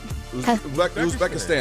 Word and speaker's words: Uzbekistan: Uzbekistan. Uzbekistan, just the way it looks?